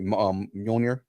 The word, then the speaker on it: Mjolnir: A lot of people say it wrong on purpose because nobody can actually say it. Mjolnir.